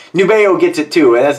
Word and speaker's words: Nubeo: say it they're like no it's it's nubeo because I was calling it nubio a lot of the guys are calling nubio it's actually nubeo this is cadola uh